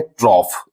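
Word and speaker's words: trough: रहे हैं ऑफ ट्रॉफ तो टी आर ओ यू जी एच को हम लोग पढ़ते हैं ट्रॉफ तो ओ यू जी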